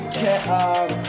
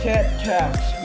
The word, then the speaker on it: Tetrax: I don't know why I first call him Tech-Mall, but I think it's because it's Tetras. It's Tetras. I'm sorry. It is Tetras. Tetrax.